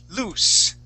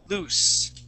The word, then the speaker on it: loose: Okay, when something is loose, okay, that is with a unvoiced S, loose, S. Okay, that sound, that S sound, loose. Okay, that is double O, loose.